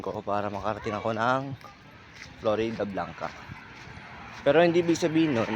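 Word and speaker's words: Floridablanca: Florida Blanca Pampanga na ang nabibigkas kong pangalan ng bayan ninyo is ah flori Blanca Akala ko tul kasi flori yun pala Florida Blanca ang haba naman kasi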